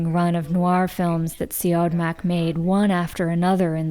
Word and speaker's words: Siodmak: of noir films that Siodmak made one after another in the 40s.